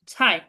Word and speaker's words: 菜: 菜উচ্চারণটা এরকম হবে, 菜中国 চাই 菜呢？